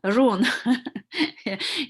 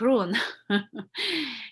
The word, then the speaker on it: Rune: with you like run rune your names uh in the english run uh but pronounce like roon and roon is running